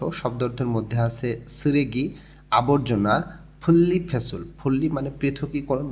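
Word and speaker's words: 분리: এর মাধ্যমে আমরা আজকে শিখব স্রেগি আবর্জনা, ফুল্লি ফেসুল, ফুল্লি অর্থ আলাদা করা, ফেসুল অর্থ ফেলাই, যে নিউনের পর রিউল আছে এই জন্য দুইটাই লয় ল উচ্চারণ হবে।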